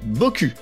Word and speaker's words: Boku: a appelé son entreprise Boku. Oui, ça se prononce à la française.